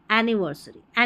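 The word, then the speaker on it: anniversary: एन नी वर स री एनिवर्सरी एनिवर्सरी। ये जो डबल एन के लिए है ना एक ही न का उच्चारण होगा।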